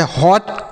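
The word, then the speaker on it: hot: से देख लेते हैं अगर दो कंसोनेंट के बीच में ओ रहे तो ओ का जैसे हॉट कॉट लॉग फॉग पॉट टॉप नॉट अगर ओ के बाद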